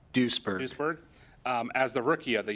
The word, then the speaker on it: Doesburg: as Officer of the Year, and Noah Van Doesburg, am I pronouncing that right? Duisburg.